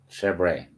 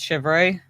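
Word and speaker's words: chèvre: How do you pronounce this word? Chevrolet. It's chevre.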